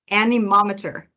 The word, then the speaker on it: anemometer: going to practice together by breaking it up into syllables so look at this graphic and e mom iter anemometer all right great job